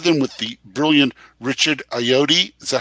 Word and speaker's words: Ayoade: 2 of them with the brilliant Richard Ayoade. Is that how we pronounce his name?